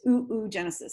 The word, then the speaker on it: oogenesis: And I'm going, it's oogenesis. I'm not oddly pronouncing that.